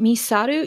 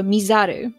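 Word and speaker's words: 見ざる: So instead of Misaru, you go Mizaru. So it's still the same word, but the sound's a little bit different.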